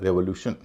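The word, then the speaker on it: revolution: रेवोल्यूशन, इसमें भी TION से पहले 3 वावल हैं, ई, ओ और यू, उच्चारण हो रहा है रेवोल्यूशन।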